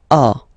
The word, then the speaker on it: as: Okay, second one, tu as. Okay, as usual in French, final s is not pronounced.